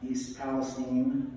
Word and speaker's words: East Palestine: So this image is East Palestine, Ohio, that's how it's pronounced, just a couple years ago.